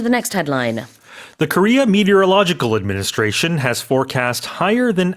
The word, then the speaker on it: meteorological: KMA, the Korea Meteorological Administration. I've always had trouble. Yeah, I've always had trouble saying that on air on the news, but it's a long word. Seven syllables, I think.